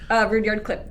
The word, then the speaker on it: Rudyard: I used to pronounce it Rudyard. It's Rudyard. And then this dude this dude was Rudyard. He was like, I'm disappointed in you, man. With your vocabulary, he was like, it's Rudyard. But there was people around.